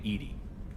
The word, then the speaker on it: EDI: why are you named Edie Ed is the phonetic pronunciation of e di that is an acronym